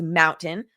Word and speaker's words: MNTN: Mountain, pronounced Mountain, announced today that it acquired Maximum Effort Marketing.